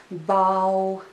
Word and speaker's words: bau: And that syllable is bau. There is a diphthong au in this syllable.